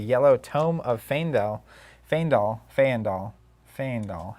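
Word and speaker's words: Fyendal: Fendall fandol. Fandol. How do you say that? You say uh it's the greatest word in flesh and blood. Fendall. That's how you say it.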